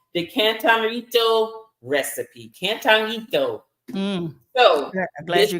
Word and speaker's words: Cantarito: Cantarito. So I'm glad you pronounced it. Cantarito. I'm not gonna try. Not gonna try. You gotta roll the Rito.